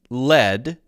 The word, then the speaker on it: lead: But then noun lead as the metal, the material, chemical symbol PB, I believe, is pronounced led in the same way as LED.